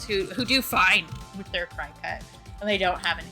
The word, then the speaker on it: Cricut: might have tried it Cricut first. Or Cricut, excuse me. I think it should be pronounced Cricut, but it isn't.